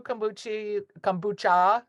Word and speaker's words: kombucha: Yeah, Koru kombucha, not Here you go. kombuchi.